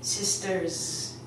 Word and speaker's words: sisters: We actually don't put an S sound on it, we put a Z sound. So I would say sisters.